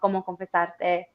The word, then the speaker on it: Como confesarte: Yeah, hey, for those of y'all that were listening, that's how you pronounce it because I didn't do it right.